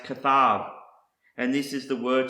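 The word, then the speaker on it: כתב: And the last word I want to show you is pronounced kathab.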